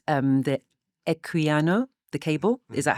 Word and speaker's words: Equiano: The Equiano, the cable, is Mhm. that how to pronounce it? Yes. Okay, so the Equiano cable.